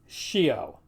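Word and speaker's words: scio: is Corollas manyas now the combination SC sounds more like an SK except and this is a big exception and it probably won't surprise you in front of e or I so if I want to say I know in Latin shio finally the combination TI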